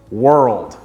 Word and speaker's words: world: pronounce it is by pretending it's two syllables when it's actually one syllable world sweet sweet sweet